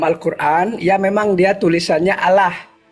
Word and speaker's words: Allah: Kalau secara teks dalam Al-Qur'an ya memang dia tulisannya Allah. Ya karena alif lam lam ha. Allah. Nah, tapi kalau cara membacanya dia seolah-olah A itu bersuara O.